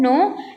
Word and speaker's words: know: सो यहाँ पे के साइलेंट है, दैट वाई हम प्रोनाउंस क्या करते हैं उसको नो, and second is NO नो।